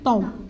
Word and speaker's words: temps: monsieur Tom Tom alors est-ce qu'on va prononcer P et S monsieur temp monsieur temp il il passait son